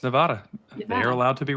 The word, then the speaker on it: Nevada: Like if I'm talking, for the way you, unless you're mispronouncing the name of a state like Nevada. It's Nevada.